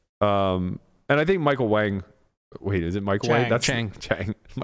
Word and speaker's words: Wang: and I think Michael Wang wait is it Michael Wang's the poker player yes uh I think Michael Jackson plays pickleball too probably a lot of transition it also might be pronounced Wong what yeah wait what